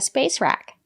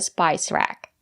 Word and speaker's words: spice: correctly let's get started it's called the spice rack it comes from the word spice we have the letter i and the silent e we pronounce the letter i as the long i like in hike and like spice it's countable so you